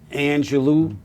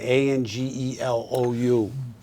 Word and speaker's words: Angelou: in someone else's cloud and that is Maya Angelou uh how do you say that a n g e l o u Angelou Angelou y Angelou Maya Angelou I only